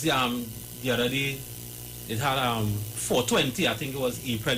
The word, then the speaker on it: 420: 420, I know that's okay, give me the article. Cancel, for sure. Mm-hmm. Right. So this 420, cannabis culture, right? Mm-hmm. 420, pronounced 4, the counting only 4-20, right?